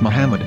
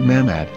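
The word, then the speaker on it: מחמד: a after the h according to ben yehuda's hebrew english dictionary it is correctly pronounced as muhammad not mahmad so how we're going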